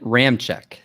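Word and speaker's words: Ramczyk: to do that one and it is it is spelled l-o-t-u-l-e-l-e-i brad your word and your second to last one is ryan ram check the offensive lineman for the saints ram check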